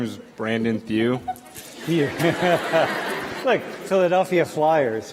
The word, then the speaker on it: Thieu: Like Thew, like it's like Thew. like in like French names, how they, like French people, how they like pronounce like or like spell like Matthew. Yeah. It's like Matt and then my last name. So like just imagine like Thew part of Matthew.